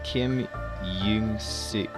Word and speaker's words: Young-seok: EO is U. Which means it's Kim Young-suk.